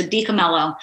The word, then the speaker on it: DiCamillo: say the L's so deelo and um as a pneumonic device or a helpful device I sometimes say think mellow even though I am